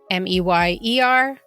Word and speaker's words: Oscar Mayer: Meyer. or M-A-Y-E-R. M-A-Y-E-R is correct. This could be explained by the way Meyer is spelt, M-E-Y-E-R, and that's why a lot of